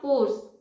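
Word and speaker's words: course: एंड इन दोनों ही words का pronunciation कोर्स होगा। आई मीन यहाँ पर आर साइलेंट है तो इसे हम कोर्स इस तरीके से कहेंगे।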